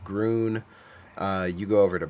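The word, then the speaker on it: Grün: Bron Falls called Green, which in German is pronounced Grun.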